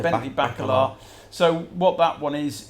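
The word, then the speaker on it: Bacalar: week is this bacala that's how you pronounce it baby back Allah so what that one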